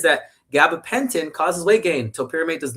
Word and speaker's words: topiramate: I I pronounce it topiramate cuz that's how I can phonetically spell it, right?